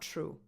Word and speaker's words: true: Do you know when the letter T also becomes ? When it's followed by an R. If you ask native-speakers they will tell you that it's not true. “True”.